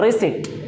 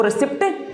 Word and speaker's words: receipt: जैसे फीस वगैरह जमा करते तो आपको रिसिट मिलती है, RECEIPT, इसको पढ़ते हैं रिसिट, रिसिट, कभी भी उसको रिसिप्ट नहीं पढ़ते हैं।